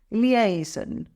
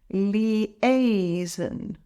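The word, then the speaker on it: liaison: team it's pronounced as leasen let's break it down leasen the stress is on the second syllable a let's say it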